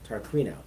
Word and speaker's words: Tarquino: She is known as Miss Medium, Miss Tarquino.